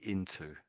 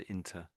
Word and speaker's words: into: But it's really into. So if Into. Yes. that's it. Yeah. Yeah. But you can say that. You can say that we use that inter. But if you're saying it fairly quickly, but it was just a little bit too obvious the way you said it.